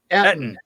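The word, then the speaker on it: Ettin: No, how did you say it? Etten. E-T-T-I-N. Etten.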